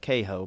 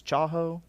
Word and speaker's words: Chaho: than have access to, I used to call it Caho, but obviously it is Chaho. If I say all the 20 years I've been saying it wrong? That was pointed out to me that's the proper pronunciation.